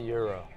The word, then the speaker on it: gyro: Gyro. Gyro. Gyro. Gyro. Say euro. Euro. That's Yes. so. I'm from Nashville. Everybody says euro. A lot of Gyro, them, they say gyro.